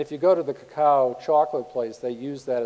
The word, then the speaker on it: cacao: And if you go to the cacao chocolate place, they use that as the logo of their company. And the fish head and the fin are both pronounced ka, ka. So you have ka, ka, cacao.